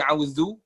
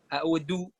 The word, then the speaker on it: أعوذ: Tapi yang harus digarisbawahin yaitu paling banyak orang nggak tahu itu di auzu. Auzu itu banyak orang yang bacanya itu zalnya itu agak-agak kayak dal, audu, kurang jelas.